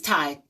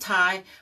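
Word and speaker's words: Tsai: But anyway, I think it's Thai. The spell is pronounced Thai, but it's spelled T-S-A-I.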